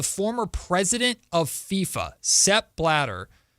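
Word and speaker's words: Blatter: And you have now the former president of FIFA, Seb Bladder, saying, I think that's how you pronounce his name, last name, B L A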